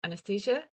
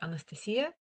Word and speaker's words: Anastasiia: I'm Anastasiia, or Anastasiia, if you want to pronounce it in a way that it was meant to.